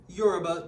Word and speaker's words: Yoruba: So John Boyega is that Nigerian, he's Nigerian, Yoruba to be exact. Am I pronouncing it right? Yeah, Yoruba.